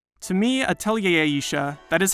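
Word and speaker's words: Atelier Ayesha: To me, Atelier Aisha, that is how it's pronounced, I checked, is a game that puts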